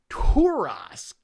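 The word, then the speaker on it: Tarrasque: you doug it's pronounced turosk it's a french word there's a legendary monster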